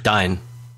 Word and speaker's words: Dyn: provider I should say dyn din I'm not sure whether you pronounce it like that um Dy what is it Dy or as it Dynamic I suppose that is how you pronounce it that that is